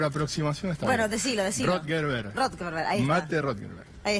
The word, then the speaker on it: Rothenberg: Estamos con Rothenberg para charlar, dirigente del masismo, me parece que lo pronuncié mal. Estuviste cerca. Apellido, estuve cerca. Sí, por aproximación está Bueno, bien. decilo. Rothenberg.